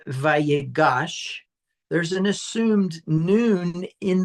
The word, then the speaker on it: Vayigash: So I think it's important that sometimes that noon gets assimilated. So even though that this is pronounced vagosh there's an assumed noon in the original root verb.